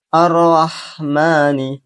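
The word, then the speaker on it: الرحمن: Arrahmani.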